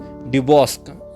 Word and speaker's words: Duboscq: तो एक French inventor थे, उनका नाम था जूल्स ड्यूबॉस्क। क्या नाम था उनका? जूल्स ड्यूबॉस्क, DUBO, और इनके नाम की स्पेलिंग बहुत ज़बरदस्त है यार, SCQ है ना, D है ये लिखा हुआ, P नहीं है, DUBOSCQ।